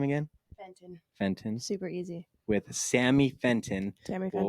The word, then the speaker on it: Fenton: how do you say your last name again Fenton Fenton super with Sammy Fenton have her Instagram